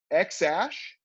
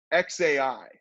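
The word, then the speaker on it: X Æ: Joe Rogan podcast that the AE is actually pronounced ash so it's X ash would be how you would say that the first name and Grimes has said that it's XA I like artificial intelligence AI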